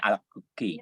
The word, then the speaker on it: Alacoque: Bacanya Alacoque.